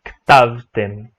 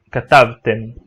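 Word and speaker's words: כתבתם: Então vai ser ktavtem. Porém, no dia a dia as pessoas, de modo geral, pronunciam utilizando o som de K. Até porque todas as outras são dessa maneira. Então, é muito comum as pessoas também dizerem katavta, katavtem, e não ktavtem.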